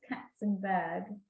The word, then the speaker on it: Kacenberg: This K-A-C in Polish is pronounced cats, so it's Kacenberg.